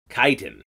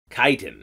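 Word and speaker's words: chitin: Kasim Kasim a een - tine chit nee tighten tighten tighten is the material that our Ahmed shells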